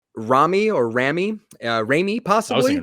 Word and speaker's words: Rami: It's Rami. You're good. Rami. That's how you pronounce it.